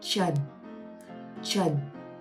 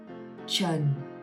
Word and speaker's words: Trần: ch, just like the ch in chalk or chocolate. Ch, Trần.